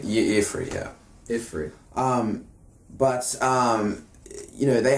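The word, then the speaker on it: Y'ffre: Bosma god, how do you say, Ifri? Ifri, yeah.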